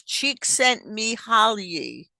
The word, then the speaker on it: Csikszentmihalyi: His name is Csikszentmihalyi. Okay, so I put the phonetic pronunciation there for all of us, not just for me.